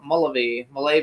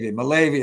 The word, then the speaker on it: Mullavy: I think is how we pronounce it. Mullavy. Hello. Mullavy it is.